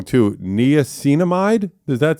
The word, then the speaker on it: niacinamide: Niacinamide? Does that sound right? Niacinamide.